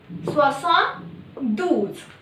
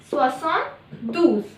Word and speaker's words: soixante-douze: 72 is equal to 60 plus 12, soixante-douze. So 72 is soixante-douze.